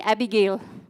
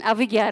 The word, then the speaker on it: Abhigya: study people used to call me Abigail and I used to feel very offended because I'm not abigil I'm aiga right so I shortened